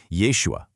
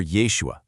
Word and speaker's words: Yeshua: We start out with the Hebrew origins, right? Yeshua or Yeshua. Then as it gets translated into English, the pronunciation shifts over to Jeshua. But then we hit step three and get this, the translation uses a really specific word here. It actually states the pronunciation became quote unquote distorted to form the widely known name Jesus.